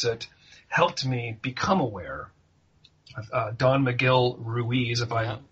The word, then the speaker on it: Don Miguel Ruiz: Don Miguel Ruiz, if I'm pronouncing that correctly.